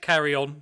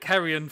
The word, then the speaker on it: Carrion: We can't pronounce it Carry On because obviously in the UK that means something slightly different. So we'll call it Sid James. Yeah, exactly. So we'll call it Carrion for the time being.